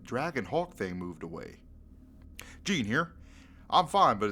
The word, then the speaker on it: Gene: nugget to mention, but my name is pronounced Gene, like the pants. It's not the correct way to say my name, but it's been this way for years. So Gene does rhyme.